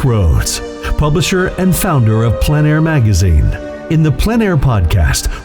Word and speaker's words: plein air: The French pronounce it plein air. Others say plain air. No matter how you say it, there is a huge